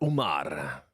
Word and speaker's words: Umar: Umar. Make pressure on the M. Umar Umar.